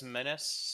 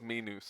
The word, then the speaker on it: Minas: Andy Yeah, Serkis says Menace, so Andy that's there Serkis you is go. right. guys, Then that's how they say it in the movies it's too. Minus.